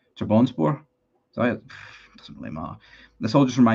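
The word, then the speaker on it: Trabzonspor: It's pronounced Trap Sunspore. Trap Sunspor. Is it Trabonspor?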